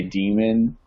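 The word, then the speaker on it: daemon: and it's like yeah is that how you say it damon yeah because some people say demon i think i think it can go either way i think it's damon all right anyways windows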